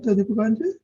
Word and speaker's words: Deepakanandji: So, did I say it right, Deepakanandji?